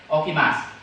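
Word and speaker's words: 起きます: Tulisannya okimasu, tapi dibacanya okimasu.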